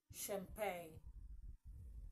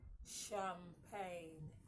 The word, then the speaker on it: champagne: like okay words like champagne some people would say champag what's champagne is this champagne no it's champagne okay that is that